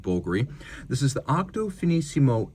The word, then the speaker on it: Bulgari: Now, it's spelled with a V to Romanize it, but it is pronounced Bulgari.